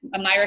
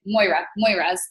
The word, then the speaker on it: Moira: to Micah Folsom's and Myra Concaba's. I'm saying her name wrong every single time I say it. Moira's.